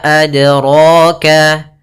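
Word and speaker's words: أدراك: Kemudian pada lafal dal sukun ini ada bacaan qalqalah artinya memantul ya. Iqtirab bergetar. Nah, kemudian untuk pantulannya maaf ada kesalahan yang terjadi dalam melafalkan adroka yang pertama tidak mantul. Tidak mantul itu salah. Sehingga misalkan wama adroka ini salah.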